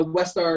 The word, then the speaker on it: Westar: And you also have, was that a West Star? Is that how you pronounce it? Yeah, it's a Westar That's a 35 knee?